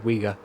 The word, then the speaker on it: Uyghur: The Chinese government has put harsh travel limitations and travel bans on the passports of Chinese Uyghur. Is that how you say it? Yeah, Uyghur. That is correct.